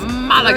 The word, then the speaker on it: Málaga: Malaga.